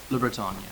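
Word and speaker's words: LeBreton: Well, Dagmar Renshaw how do you pronounce her name? Le Breton? Le Breton, yeah. She says in her biography,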